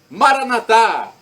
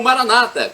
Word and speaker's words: Maranata: aramaico dialeto de Jesus eu clamo Maranata com a tônica na última sílaba como pronunciamos nós católicos ou Maranata com a crônica na penúltima sílaba como pronunciam nossos irmãos separados os evangélicos ou protestantes não importa a pronúncia